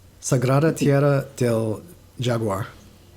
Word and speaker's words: Jaguar: Sagrada Tierra del Jaguar. How was that? Yeah, real close, very close. The J in Spanish is like an H, so Okay, it's I like see. Jaguar.